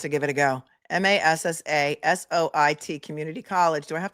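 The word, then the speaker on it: Massasoit: at I'm not going to even try and pronounce this. Who wants to give it a go? M A S S A S O I T Community College.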